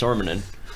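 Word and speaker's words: Sormunen: I spent the time to learn how to pronounce Sormanen.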